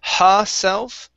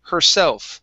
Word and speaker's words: herself: word herself first so instead of ha self saying ha okay curve your tongue up a bit her herself try that positive there you